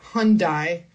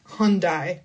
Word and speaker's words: Hyundai: But in the US, we say Hyundai for this brand. Hyundai.